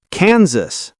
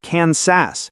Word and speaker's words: Kansas: Kansas, not Kansas. The S is voiced like Z.